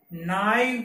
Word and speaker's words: naive: एक ये है NAIVE, इसे नाइव पढ़ा जाएगा, इसका प्रोनाउंसिएशन क्या होगा, नाइव। कुछ बुक्स में मिसप्रिंट हो गया, नेव लिख रखा है, हो सकता है, लेकिन इसका सही प्रोनाउंसिएशन है नाइव, नाइव।